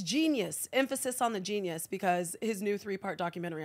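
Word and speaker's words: Jeen-Yuhs: Emphasis on the genius, because his new 3-part documentary on Netflix is called Genius, but it's spelled J-E-E-N-Y-U-H-S.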